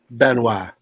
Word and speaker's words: Benois: Oh, how do you say your last name? Benois. Benois. Did I say it?